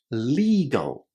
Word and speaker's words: legal: The first one is tricky because students often forget that the first syllable contains a long E sound. So we say it as legal.